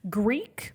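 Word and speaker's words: Greak: out for switching pc greek but it's spelled g-r-e-a-k greek memories of azure is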